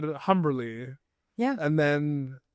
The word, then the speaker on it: Humberly: you for Utopia Falls, I pronounced the H. And like, There's a rite of passage here when my friend or not. If you still pronounce the H, you don't know me.